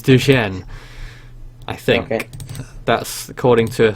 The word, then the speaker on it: Dujuan: W would pronounce it he'd pronounce it Doan Doan no it's it's Duan I think it is it's a very confusing name to try and pronounce um but no I think that's the Mexican way of saying it Chinese way of saying it I think is duen I think that's according